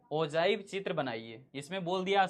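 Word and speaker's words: ogive: ओजाइव भी बोला जाता है इसको। प्रोनाउंसिएशन ओजाइव कहते हैं। तो ओव भी बोल देते हैं हम लोग बोलचाल की भाषा में।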